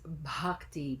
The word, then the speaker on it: bhakti: practicing bhakti yoga so that word is bhakti b-h-a-k-t-i the H is aspirated bhakti yoga and the word bhakti um means yoga of Love or yoga of devotion bhakti yoga so I'd like